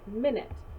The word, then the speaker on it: minute: word on our list actually has two pronunciations the first one you're probably familiar with minute minute is a small portion of an hour however it could also be pronounced minut minut is something that is extremely small a minnow is an